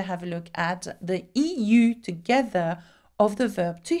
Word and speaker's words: eu: Now, there is one exception we need to have a look at, the EU together of the verb to have. Past participle is not pronounced U, but it's pronounced U, okay?